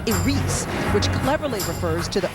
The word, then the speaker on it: Iris: production will be titled I spelled Iris but pronounced AR which cleverly refers to the opening that controls